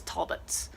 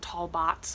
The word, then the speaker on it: Talbots: very excited about this the brand on it is Talbots at least that's how I was always told to pronounce it on my mom's shop they're a little bit and they were always insisting it wasn't tall bots but that's definitely looks